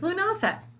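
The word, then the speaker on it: Lughnasadh: i'm from our from the south so it's lunasah also every full moon i'm going to do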